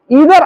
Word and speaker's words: either: अब देखिए, इससे संबंधित ईदर आर से, इसका प्रोनाउंसिएशन ईदर आर कहिए या आइदर आर कहिए, हम ईदर आर कर रहे हैं। ईदर आर दोनों करेक्ट प्रोनाउंसिएशन।